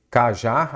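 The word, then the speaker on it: cajá: Então, olha aqui, cajar, a sílaba tônica é qual? O já você separa em vírgula aqui, você separa em sílaba. Aí você já consegue identificar. Ela é oxítona terminada em A.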